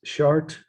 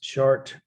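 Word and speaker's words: Chartres: of christ prophets p-r-o-p-h-e-t-s and ancestors of christ chart i'll spell it again because most of you weren't able to see this slides of shard on monday obviously c-h-a-r-t-r-e-s chart is the town and actually the cathedral but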